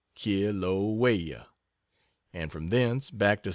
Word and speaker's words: Kilauea: active volcano in the world, that of Kilauea, pronounced Kilauea, and from thence back to San Francisco, and then, doubtless, to the States.